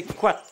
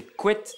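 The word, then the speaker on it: koad: Le bois, en breton, c'est quat, que l'on peut aussi prononcer couette dans certains pays.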